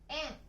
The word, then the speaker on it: 円: これは円と読みます。